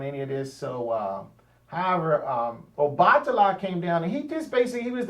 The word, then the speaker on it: Obatala: So that's how I like to say it, Obatala, because the word Oba is a word, and then Tala is also words in the Yoruba language. But a lot of times, if you're an English speaker, you would just say Obatala because you're an English speaker. You don't know anything else.